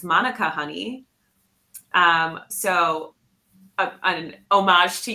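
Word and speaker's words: mānuka: I realized for the first time that we are mispronouncing what we call Manuka honey. right. And there's an accent on the A, and this lovely woman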